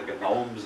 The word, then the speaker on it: gnomes: Wilson called them the Gnomes of zorich as far as I know he was the only one that ever pronounced the G in gnomes we call them the Gomes of zor he complain no matter